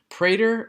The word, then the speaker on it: Prader: So for Prader Willie syndrome, Prader rhymes with Vader.